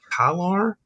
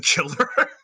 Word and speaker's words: Kilar: Jason Kilar. Jason is Kilar, and I don't want to say Jason Killer.